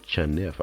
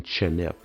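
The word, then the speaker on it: חנף: The Hebrew word chanef, I think that's how it's pronounced.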